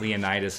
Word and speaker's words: Leonidas: Because it's like Leonidas isn't pronounced Leonidas.